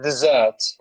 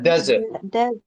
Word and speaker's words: desert: it as a noun, don't pronounce it dessert. It's a desert. Pronunciation. Yeah, desert. Desert as a noun. You know, as a noun, it pronounced. You know, right as we said, desert. But as a verb, dessert.